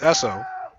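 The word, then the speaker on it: Eosso: So that'll bring up Lucas Esso. It's pronounced Esso, but it's spelled E-O-S-S-O.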